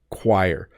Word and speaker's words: choir: them for people um the reason this is hard to pronounce is because it starts with ch and CH doesn't often make AQ sound choir choir and so you end up wanting to use either CH or C but it's not either of those sounds it's chir ququ so this should be